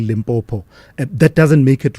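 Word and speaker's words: Limpopo: that a lot of people mispronounce it, by the way, and say limbbo instead of saying limbopo.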